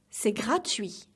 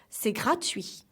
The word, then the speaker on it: gratuit: We say, c'est gratuit. So, the last T is silent. One more time. C'est gratuit.